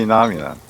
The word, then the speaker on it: phenomenon: Pl- Phenomenon. Yes. Mm. Please remember the ph there Mhm. will sound f.